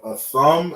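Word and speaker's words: אתם: We have a thumb and a thun. We have masculine, we have feminine, right? We separate the two. So this word a thumb is how you say you, and it's masculine.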